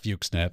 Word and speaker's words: Fuxnet: We will call it Fuxnet. That is how we are choosing to pronounce it.